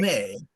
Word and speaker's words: Lumet: It's French. It's French. That's right. Lumet.